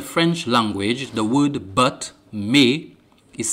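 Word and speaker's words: mais: For example, in the French language, the word but, may, is spelled M-A-I-S.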